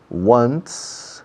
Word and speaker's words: once: I go to Morocco about once, una vez, once, como el número 1, one, con un sonido de S al final, once. Se escribe 11, se pronuncia como 1 más un S, once.